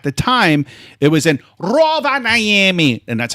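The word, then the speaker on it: Rovaniemi: which was at the time it was in Roa Niami, and that's how you pronounce it, Roa Niami, Finland.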